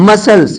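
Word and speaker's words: muscles: हैं तब पता चला अच्छा इसको मस्कल से नहीं मसल्स बोला जाएगा मसल्स मींस मांसपेशियां सीन सीन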